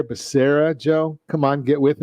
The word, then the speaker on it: Becerra: for hhs secretary yeah apparently they didn't get the pronunciation or the phonetics into the teleprompter for joe biden because it's javier becerra joe come on get